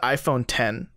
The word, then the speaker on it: iPhone X: news stories I'm reading like in parentheses pronounced as 10 like nah [ __